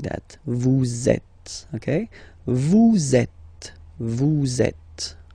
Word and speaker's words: vous êtes: So in that case, vous is ending with S, and then you tend to make a little link between them. So vous êtes, z, it goes like that. Vous êtes, okay?